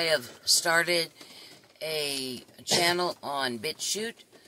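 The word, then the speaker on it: BitChute: started a channel on bit shoot which is spelled vit B as in boy i t shoot c h UT e is that all one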